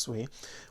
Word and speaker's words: Sui: Another popular one, Sui or Sui, however you want to pronounce it, even though it's pronounced Sui, went up 15%.